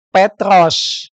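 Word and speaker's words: Πέτρος: kosakata ini yang saya beri warna kuning ini bacanya petros diterjemahkan dalam bahasa Indonesia menjadi us yang saya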